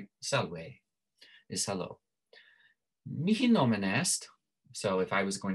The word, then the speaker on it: est: They say est, right? It's still the same. They don't pronounce the T in French, but it's still spelled exactly the same.